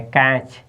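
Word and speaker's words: catch: बाद सीच है ना तो टी आपका साइलेंट टी के जस्ट बाद सीटी साइलेंट टी के जस्ट बा सटी साइलेंट तोब इसको पढ़ेंगे तो क्या पढ़ेंगे कैच क्या पढ़ेंगे कैच कैच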